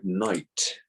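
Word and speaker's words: knight: So some words contain letters that do not make a sound, such as the word night. Night, the silent letter here is K because we do not pronounce the K in night.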